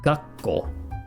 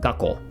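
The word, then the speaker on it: 学校: It's not poki, it's poki. And this is gakkou. Not gakkou, right? Gakkou, right? School.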